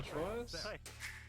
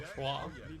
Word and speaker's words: Troyes: Or Troyes. I'm so bad when it comes to French pronunciation. I always forget that you meant to get rid of half the syllables. Oh, half the letters, I should say.